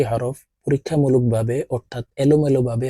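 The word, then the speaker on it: ح: নুন নুন যা হা হলকের মধ্যখান থেকে হা হরফ উচ্চারণ হবে কারণ হার মাখরাজ হলকের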